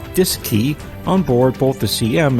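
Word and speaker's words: DSKY: and keypad known as the D s KY pronounced disc II on board both the CM and LM Mission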